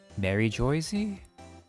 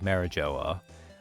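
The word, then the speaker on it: Mary Geoise: Or just, I don't even remember how they pronounce it in the anime. Mary Joyzy? Because for the longest time, everyone thought it was like Marijoa. But now it's actually spelled like Mary, like the name, and then Goisie.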